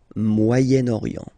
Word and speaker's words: Moyen-Orient: So it's interesting here because normally if you would have only this word here, you would pronounce it moyen, moyen. Okay, but then as you've got this vowel after, okay, you get to make the liaison between the two.